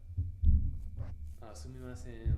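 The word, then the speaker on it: すみません: So there's eyes are sumimasen, burning.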